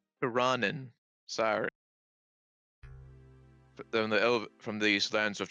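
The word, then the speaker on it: Tirannwn: from the lands of Taranwin. Wait, hold on a second. I have to actually double check the pronunciation because I realized, oh yeah, I think I've been saying it wrong. Tiranen.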